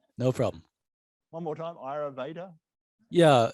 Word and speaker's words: Ayurveda: Yeah, I didn't repeat that one because I couldn't pronounce it. So whatever you said. No problem. One more time, Ayurveda? Yeah, it's A-Y-U-R-V-E-D-A, Ayurveda.